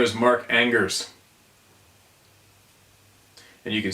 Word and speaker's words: Angers: Nope, no one pronounces it right the first time they read it, so it's fine, LOL. essentially the N, like in French. Oh, Mark.